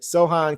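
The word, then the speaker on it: Sochan: Everybody saying it's so hand or so. I'm gonna go with Sohan. Said pronounce the pretend the C isn't there. C is silent with Sohan.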